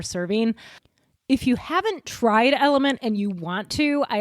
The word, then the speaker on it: LMNT: It's just capital letters LMNT, but it's pronounced Element.